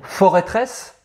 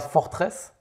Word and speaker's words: Forêtresse: Forêtresse, ça se prononce forêtresse. Attends, quoi? Tu peux répéter? Eh ben forêtresse. C'est pas forteresse? Mais non, c'est une forêt. C'est la forteresse de la forêt.